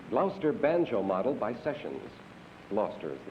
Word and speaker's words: Gloucester: a clock the gloucester banjo model by sessions gloucester is the correct pronunciation and number four is pottery a service